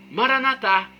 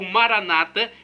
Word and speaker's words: Maranata: E agora eu clamo do aramaico dialeto de Jesus, Maranatá, como dizemos nós católicos, ou Maranata, como dizem nossos irmãos separados, os evangélicos ou protestantes. Não importa a pronúncia, o significado é o mesmo.